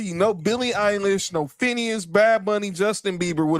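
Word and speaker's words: Finneas: Billy Eilish's brother, but it's spelled, but it's pronounced like Phineas, but it's not spelled like Phineas and Ferb.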